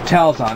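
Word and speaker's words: Telxon: enter the telon telon I know it's spelled TLX n but that's what it is it's Telson it's it's actually a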